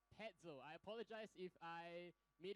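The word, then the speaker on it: Petzl: is petel all right it's not pretzel it's petel I apologize if I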